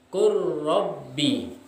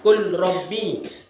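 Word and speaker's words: قُلْ رَبِّ: Jadi yang tulisannya tadi adalah qul rabbi dibaca menjadi qur rabbi. Paham? Jadi tidak membacanya qul rabbi, tetapi qur rabbi.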